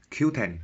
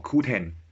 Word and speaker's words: Qoo10: talking about this app called q10 or ku 10 like whichever way you want to pronounce it and this is